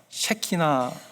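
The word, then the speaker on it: Shekinah: 여러분, 시카이나 글로리라고 들어보셨어요, 그죠? 시카이나 글로리, 한국말로는요 셰키나, 발음을 잘해야 됩니다.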